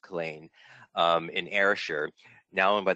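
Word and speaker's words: Culzean: Yes, it's actually pronounced Killeen, in Ayrshire, now owned by the National Trust for Scotland.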